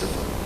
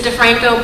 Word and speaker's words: DeFranco: DeFranco. Thank you. It's actually pronounced DeFranco, but you don't need